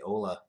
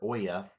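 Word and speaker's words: Olla: It actually smells a lot like the Bourbon County Cafe de Ola, or Oya, as it's pronounced, that I had not too long ago.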